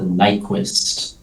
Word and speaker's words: Nyquist: I've heard that the Nyquist is how you pronounce it.